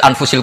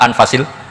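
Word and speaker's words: أنفس: Di sini ditulis anfusil kutub. Selalu saya baca anfasil kutub karena maknanya kitab terbaik. Kalau kitab terbaik bacanya bukan anfus tapi apa? Anfas.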